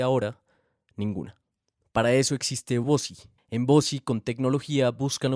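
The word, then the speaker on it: Vozy: Para eso existe Vosi.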